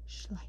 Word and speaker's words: Schleich: So you can see Schleich.